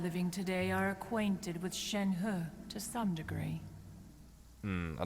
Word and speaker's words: Shenhe: call it a Shen so the pronunciation is Shen her never would have guessed